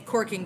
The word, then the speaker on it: caulking: I will be saying corking during this video because that is the more common pronunciation here in the Pacific Northwest where the Virginia 5 is.